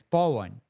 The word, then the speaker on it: Paw: My name is P A W and it's Pan.